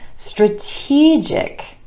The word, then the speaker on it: strategic: When we add the ik ending, it becomes strategic, strategic. And our stress shifts to the e vowel sound right before our suffix, strategic. It's a strategic move.